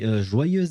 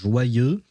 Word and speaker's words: joyeux: And yeah, don't ask me why, but the X at the end of joyeux is typically not pronounced unless there is a vowel starting the first word right afterwards, which in this case would be anniversaire.